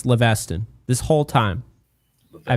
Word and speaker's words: Leveston: It's Leveston. Leveston. But I was saying Leviston because I obsess over getting these pronunciations correct. And so I found somewhere, I forget where it was, but it was pronounced Leviston, right? Not like Leviathan or whatever with the TH, but yeah, and apparently it's Leveston this whole time.